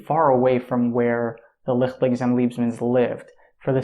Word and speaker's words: Leichtling: that the family that I thought was called Leichtling, as a matter of fact, it's actually pronounced Leichtling.